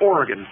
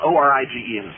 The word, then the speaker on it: Origen: Tacitus did not have a reference to any Christos before Oregon, and you know it.